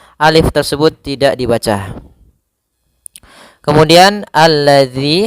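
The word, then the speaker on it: الذي: Kemudian alladzi hati-hati dalam pelafalan zal di sini ada huruf dalal bukan huruf zai ya. Kebanyakan kita kadang-kadang membaca huruf dal dengan huruf zai misalkan alladzi.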